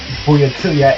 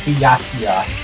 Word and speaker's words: Byakuya: Yeah, I've been pronouncing his name wrong all this time. It's not Byakuya, it's Byakuya.